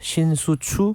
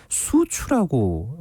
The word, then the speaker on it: 추신수: 추신수 선수를 보통 이 미국에서는 뭐 신수추 그렇죠. 혹은 추 네. 이렇게 이제 예. 발음을 하거든요. 그런데 계속 수추라고 이렇게 발음을 했었어요.